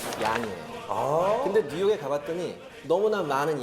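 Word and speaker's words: Jan: 존의 네덜란드식 발음이 얀이에요.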